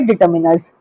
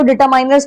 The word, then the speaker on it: determiners: लगकर वो होंगे हमारे डिटरमिनर्स। ठीक है? पहले आपको बता देती हूं इसकी प्रोनंसिएशन आपको गलत नहीं करनी है। बहुत सारे बहुत अच्छे-अच्छे टीचर्स इसको डिटरमाइनर्स पढ़ते हैं। यह डिटरमाइनर्स नहीं होता है।